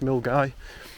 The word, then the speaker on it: Milngavie: It's got good transport links and come south, but most people tend to start at Milngavie, which is spelt Milngavie but pronounced Milngavie.